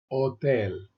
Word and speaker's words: hotel: Another silent H, el hotel, el hotel, el parque, el parque,